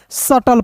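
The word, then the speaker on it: subtle: सटल पढ़ेंगे।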